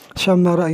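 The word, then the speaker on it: شمّر: Syammara ini wazannya ini berwazan fi'il madi. Syammara. Tetapi di sini sudah dijadikan nama. Bitasydidil mimi, dengan di cara bacanya ini dengan ditasydidkan mimnya ini.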